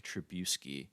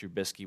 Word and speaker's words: Trubisky: completely butchered his name he said the nvp goes to mick trabuski oh instead of mitch trubisky which just was insult